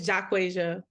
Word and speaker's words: Jaquasia: Jaquasia? It's Jaquasia.